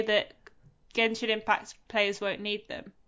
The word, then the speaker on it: Genshin: And it is Genshin it's in the odds and ends category because of course Random. Before you go any further, Ashton, can I tell you it's pronounced Genshin actually, according to the Game Awards?